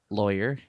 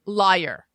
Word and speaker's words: lawyer: you say this word lawyer okay does everyone here say lawyer lawyer lawyer lawyer okay because some people say liar liar okay in the south